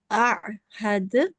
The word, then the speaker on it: أعهد: So just a little thing that you can or should improve. So remember, this is ayn, and it doesn't sound like ha. It has its own sound, and we have to bear that in mind. Alam a'had, like this. Can you say it?